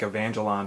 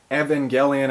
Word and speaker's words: Evangelion: of it but uh it looked like evangelon to me but Evangelion I guess is the correct way to say it but uh regardless uh